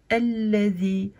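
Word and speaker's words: الذي: une fatha et donc on commence la première lettre avec le son A. Donc on dit alladhi.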